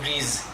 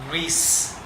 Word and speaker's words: grease: For example, the word grease, like that is used in cars, machines, we say grease. That is wrong. It is pronounced grease.